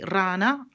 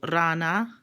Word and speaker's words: rana: know that means spider if I say rana RA na that means frog so Rana Rania so the difference